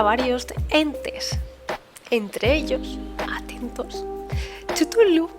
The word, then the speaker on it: Cthulhu: grupito que os he dicho antes de los relatos de los mitos de Cthulhu, ¿vale?